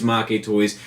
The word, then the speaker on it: Maketoys: making toys it's a double entendre I use make toys just because it's what I've always used but the correct pronunciation is Maki toys the boss of that situation told me that